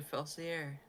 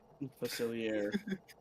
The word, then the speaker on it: Facilier: Gosh, it's Dr. Felsier. Facilier. I always can never pronounce his name. It's a very French name. It's French Creole.